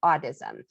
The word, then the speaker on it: audism: to be talking about audism and uh what i mean by audism is a-u-d-i-s-m i'm not saying it wrong that's how it's actually supposed to be said um autism is the